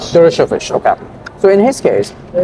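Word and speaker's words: Dershowitz: Well, in case of is it pronounced Dovich, Alan Dovich, right? How do you pronounce his last name? Uh, Durovich. Durovish.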